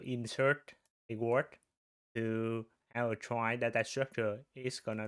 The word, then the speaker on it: trie: Uh this one pronounced is uh I think it's originally we can pronounce it tree but is cause a lot of confusion because uh we have the tree the normal tree and the prefix tree.